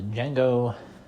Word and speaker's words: Django: Um, but yeah, uh, Django, Django Unchained, that is spelled D. Yeah. Yeah. D, J A N G O. Uh, the D is silent.